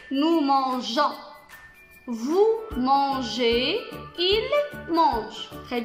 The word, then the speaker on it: mangeons: Nous, pour préserver le son J, on a inséré un E ici pour prononcer nous mangeons.